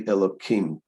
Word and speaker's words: Elokim: You notice we don't say, we don't use the hey, we say a kuf instead of a hey, because this is the name of God. We're not supposed to pronounce the name of God in vain. So that's why we say Elokim.